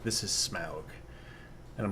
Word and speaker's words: Smaug: And then the taking, the confrontation with I can't remember the Smog, which in the cartoon is Smog instead of Smaug, which got on my nerves all to hell.